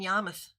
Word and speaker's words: Yarmouth: Let me say it correctly, in Yarmouth on Cape Cod.